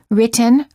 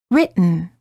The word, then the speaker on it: written: gum Ridge button similarly don't say written or written say written don't say kitten or kitten